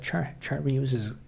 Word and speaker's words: chartreuse: Chart reuses is color. Comment is pure sarcasm. I assume it probably is. I guess I won't know until I Google that color. It's pronounced chartreuse. It must be French.